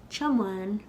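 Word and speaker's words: tiomáin: It's two syllables with a fada in the second syllable.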